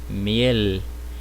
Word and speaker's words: miel: Mas no espanhol não, vai ser miel. Eu vou dobrar a minha língua para que ela toque o céu da boca, né?